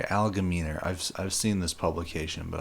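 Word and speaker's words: Algemeiner: So this is an article from the Allgeheimer, or however the hell you pronounce it, Allgemeiner. Sorry, Allgemeiner.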